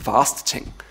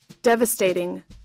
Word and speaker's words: devastating: very difficult such as devastating I remember the first time I rented I thought it was the vast tank because I just didn't know how to pronounce it but using Google dictionary